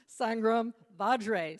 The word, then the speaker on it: Sangram Vajre: And our Flip My Funnel guy, Sangram Vajre. So we have a soft G and a hard J.